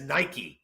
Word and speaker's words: Nike: the the guy behind Nike the guy who created Nike Phil Knight says Nike so it's Nike like it's the same thing